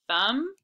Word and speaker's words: thumb: thumb print we have thumb and print and don't forget to put the silent b in the right place thumb print goes with thumb ooh homework my favorite